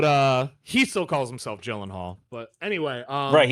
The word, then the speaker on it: Gyllenhaal: Jake Jake Gillenhal as he says it's pronounced.